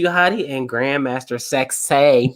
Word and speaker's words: Sexay: Mm-hmm, all right, with Scotty 2 Hotty and Grandmaster Sexay. Remember, say it right. Say, not sexy, Sexay.